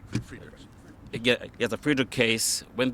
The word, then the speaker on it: Friedrichs: Now, when these, in the case of the Friedman, am I saying it right? Friedrichs.